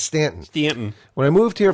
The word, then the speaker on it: Staunton: Camera Museum here in Stanton. I think you had to sound that out. Well, no, because if you read on, it says here in Staunton. Oh, they pronounce it Stanton. I got you.